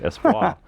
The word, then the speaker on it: Espoir: Oh, Ooh, maybe it's French. Espoir. Yeah, it's like a silent R there.